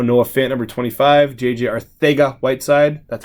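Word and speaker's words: Arcega-Whiteside: Some other cards we have in our store right now: Noah Fant number 25, JJ Arthega Whiteside.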